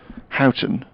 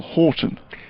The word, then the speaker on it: Houghton: called little on the they're both pronounced or the the word is Houghton but I forget which way around that is one is great Houghton and the other is little Horton now that's interesting because